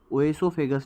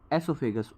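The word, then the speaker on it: oesophagus: ओएसोफेगस नहीं, एसोफेगस, ओ यहाँ पे साइलेंट होता है।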